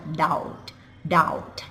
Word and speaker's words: doubt: เพราะ ว่า ฉัน น่ะ doubt doubt นะ silent B นะ ค doubt ออก เสียง เป็น Down สงสัย นะ คะ เติม